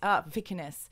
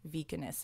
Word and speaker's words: Vikernes: Vikernes. Okay. So, you know, I can't pronounce anything ever pretty much because of my Australian accent and I don't know, my tiny lady brain.